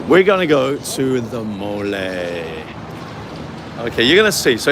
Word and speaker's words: Mole: is going on about the mole spell m-o-l-e but not pronounced mole m-o-l-a mole mole so this I think